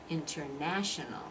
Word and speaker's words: international: first word international like there are five syllables in that international okay and what's the stressed syllable which is the one you're hearing international international I can exaggerate it international by international so you can really hear it but American is going to say international now when you say now